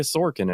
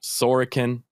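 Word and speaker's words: Sorokin: didn't talk about ilya sorkin at all who i'm sure we will talk about it sorakan there's too many vowels i pissed off by saying sorkin by putting emphasis on the wrong r but hey you know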